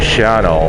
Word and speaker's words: Shawano: I don't know why they pronounce it Shano. When you read it, it's Shawano, S-H-A-W-A-N-O, Shawano. But they pronounce it as Shano, Wisconsin.